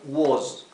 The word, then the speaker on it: was: Así que en tiempo pasado decimos I was. I was, yo era. Y aquí nuevamente la s, que sea una s vibrada. Z. I was.